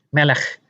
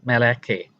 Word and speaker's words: melech: Jadi kita harus membacanya sebagai misalnya melech dan bukan meleke.